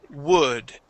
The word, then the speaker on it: would: woo, instead of saying would and putting in the L there, the L in that word is silent. So instead of saying would, it is would.